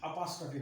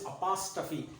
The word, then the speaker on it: apostrophe: only beside it just merely you know put apostrophe like this so this is called as possessive case this is called as possessive case and the name of the symbol is apostrophe that r is silent oppas tafi f f